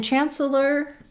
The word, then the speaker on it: Chancellor: So in Chancellor, I'm saying that with 3 syllables. Exchequer. But you may hear it just pronounced Chancellor. So it's like the word chance and then a lur sound, Chancellor. So we'll have first syllable stress, Chancellor of the Exchequer.